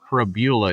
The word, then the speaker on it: Prabula: Prabula. It does not rhyme with, it doesn't rhyme with fibula, like we thought.